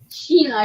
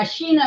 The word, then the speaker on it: Shana: make sure y'all understand my name is spelled like Sheena but it's spelled like Sha but it's pronounced Sheena Sheena Sheena Sheena I will say